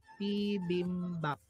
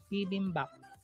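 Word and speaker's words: 비빔밥: Second syllable is BIM, third syllable is BAP, PBIMBAP, PBIMBAP.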